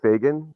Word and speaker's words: Fagan: It's Fagan, Fagan. So just like it's spelled.